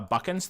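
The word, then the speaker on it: Buchans: It's pronounced uh Buckkins.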